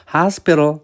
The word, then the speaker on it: hospital: 드랍을 가면 병원을 A를 발음하지 않아요. 하스피탈이라고 하지 않고 hospital 하거든요. 이때의 A가 아예 소리를 안 낸 거예요. TL이 틀이 된 건데 나중에 하겠지만 DT에는 리을 현상이 일어나서 르이 된 거예요.